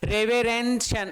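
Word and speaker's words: reverential: रेवरेंशियल, रेवरेंशियल, रेवरेंशियल, रेवरेंशियल, रेवरेंशियल, TIL। तो TIL को तो शल बोलेंगे, है ना।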